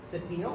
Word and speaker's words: cepillo: The double L's are pronounced silently whenever they're together. So we have literally here, cepillo or brush.